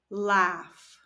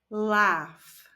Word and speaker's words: laugh: call text text text jump jump play play laugh laugh notice that the a and u are pronounced a ah and the G and H